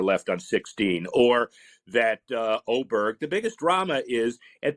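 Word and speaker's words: Åberg: name to O, or does he change his pronunciation to Aberg? Because you can't have both. I don't care where he's from. You can't call him Oberg and have an A on the word.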